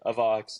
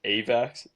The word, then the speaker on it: AVAX: the Avalanche ecosystem yeah internally we say a Vox but most people externally says avax and so uh okay